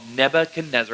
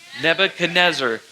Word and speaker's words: Nebuchadnezzar: a crazy king called Nebuchadnezzar. Everybody say that with me. 1, 2, 3. Nebuchadnezzar. Nebuchadnezzar. Nebuchadnezzar. It's that long name that's like a Nebuchadnezzar 5-syllable word. It's not every day you say 5-syllable words, but Nebuchadnezzar.